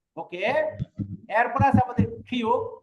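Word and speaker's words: 키읔: ওকে, এরপর আছে আমাদের খিউক। খিউকের উচ্চারণ দুইটা, হ আর ক। যদি এই খিউক নিচে বসে তাহলে তার উচ্চারণ কি হবে? ক, ক।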